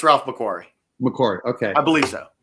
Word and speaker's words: Ralph McQuarrie: yeah yeah it's a ralph macquarie signature series corey did all the concept art for the original movie okay so uh i'm pronouncing it incorrectly it's i believe it's ralph mcquarrie mccord okay i believe